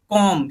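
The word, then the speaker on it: comb: तो एम के बाद यहां पर भी बी क्या है उसे हुआ है तो इसको हमें क्या कर देना है साइलेंट कर देना है इसको प्रोनाउंस नहीं करना बोलना ही नहीं हमें इसको हम सिर्फ इतना बोलेंगे कॉम क्या बोलेंगे कॉम कॉम नहीं बोलेंगे क्या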